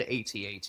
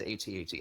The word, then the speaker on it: AT-AT: So, as an uncultured white guy, I can tell you, I've always done my acronyms as the letters, so I've always said AT-AT. Now, there's some media where it Okay. says AT-AT.